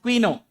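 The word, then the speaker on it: Couinaud: So Claude Quino, it's pronounced Quino.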